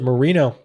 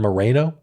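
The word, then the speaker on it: Moreno: and it's Bernie Marino he pronounces it Marino I think because he doesn't want to sound ethnic Marino sounds less ethnic than Mareno I don't know but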